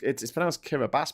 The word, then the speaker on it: Kiribati: And also, it's pronounced Kiribati, but it's spelled Kiribati.